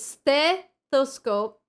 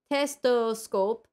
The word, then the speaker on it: stethoscope: it's stethoscope, but then the... like, she cannot really pronounce the S well, because it's like in between your teeth, kind of. So it's kind of difficult. So instead of I cannot do it slow. Stethoscope. She goes testoscope, but then testoscope has also...